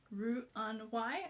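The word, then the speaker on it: Roux-en-Y: um then we've got the r in y which is pronounced round y i think which is a type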